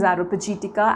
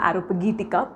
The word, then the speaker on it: Areopagitica: The pronunciation is Areopagitica, Areopagitica, both are fine.